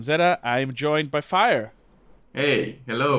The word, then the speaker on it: Fáyer: more better known as fire uh which actually comes from fire fire but it's just a way of spelling it weird because that's how people pronounce it over here in Mexico uh and yeah as